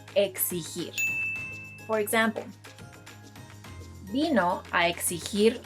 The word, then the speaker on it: exigir: This verb, which means to demand, is pronounced exigir.